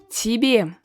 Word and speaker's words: тебе: Тебе, тебе. So the first Y is unstressed. That is why we pronounce it as E with a softened consonant, so тебе, тебе.